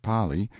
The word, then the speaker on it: Pali: frightful precipice of the pali pronounced pali intelligent natives claim that there is no r in the kanaka alphabet in front and then